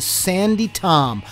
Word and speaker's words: Sandi Thom: When you guys are going to listen to Sandi Thom. Last week I said her name wrong.